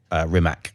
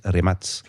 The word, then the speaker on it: Rimac: So this is one of the things that uh Rimatz or Rimac as most people would would think of it but correct pronunciation is remat and that was actually engineered so that you